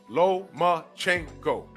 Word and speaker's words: Lomachenko: One last name, four syllables. Lomachenko.